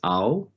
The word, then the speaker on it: Aotearoa: So to pronounce that, if we break that into its syllables, it is Aotearoa. It's the last bit I think we have the biggest trouble with. It is the roa. It is, we really want to roll that R, and it is sounds